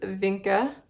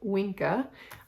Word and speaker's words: Vinca: So this is Vinca, or if I'm going to use a Latin pronunciation, I would call it Winca.